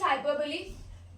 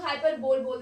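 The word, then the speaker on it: hyperbole: Next is हाइपरबली। इसको बहुत लोग हाइपर बोल देते हैं, that is wrong pronunciation, it's हाइपरबली, ठीक है।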